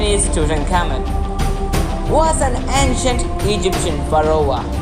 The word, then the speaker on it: Tutankhamun: Egyptologically pronunciation is Tutankhamun.